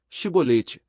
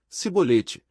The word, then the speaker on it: Shibolete: Então lhe diziam, dize, pois, Shibolete, porém ele dizia, Sibolete, porque não o podia pronunciar bem, então pegavam dele, e